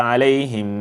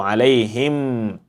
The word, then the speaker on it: عليهم: In Surah An-Nas, we mentioned that this is supposed to have ghunna, and the ghunna is 2 points, and 2 points is estimated to be 1 second, depending on your speed.